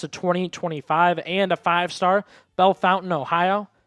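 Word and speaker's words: Bellefontaine: Bell Fountain, Ohio. I've heard it pronounced different ways, but I was told locally it's Bell Fountain.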